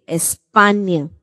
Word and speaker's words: España: When N and Y come together, the sound that's pronounced is nya, banyan. When you're reciting the alphabet, how do we say it? NA. NA. NA de España.